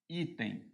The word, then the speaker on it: item: muita gente acentua ó item vamos ver item a palavra item é uma palavra paroxítona a sílaba tônica é o i muita gente coloca acento